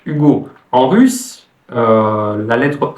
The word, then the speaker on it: Hugo: hein en français on a la lettre H Hugo en russe euh la lettre H sur les noms français se prononce donc si vous vous appelez si vous